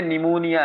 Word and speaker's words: pneumonia: जाता है उसको निमोनाइटिस ये जो इसमें पी लिखा होता है ना पी निमोनिया इसको पी को साइलेंट कर देते हैं पी को नहीं पढ़ते इसको प लिखने में क्या आता है पी निमोनिया लेकिन हम पी निमोनिया पढ़ते नहीं है सिर्फ लिखते हैं पढ़ते निमोनिया है पी निमोनाइटिस ठीक है